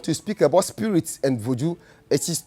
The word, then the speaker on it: Voodoo: Voodoo is 2 syllables. Voodoo. The VO is the vo. Do is the DOU. Voodoo.